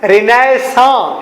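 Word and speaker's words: Renaissance: ये लिखा है मैंने रिनेसेंस, REINAISSANCE, अल्लाह माफ करे इतने लंबे भी स्पेलिंग होते हैं। अच्छा, इसका नाम है रिनेसां, इसे पढ़ते हैं रिनेसां।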